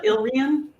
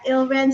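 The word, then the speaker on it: Ile-Rien: books of the rakshura series The I can't pronounce this uh elrion yeah ilren sorry everyone the hill rancories and several other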